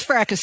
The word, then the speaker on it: Fracas: It reads like fracas. Oh, that is fracas.